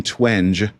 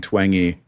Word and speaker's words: Twenge: Jean Twenge. But what I've learned from you uh early on is that is not how you say it, Dr. Jean Twengey.